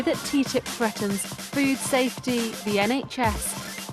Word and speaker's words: TTIP: so you can make your own mind up ttip stands for the transatlantic trade and investment partnership and as you may have guessed it's it's pronounced ttip negotiated in secret it's a deal to cut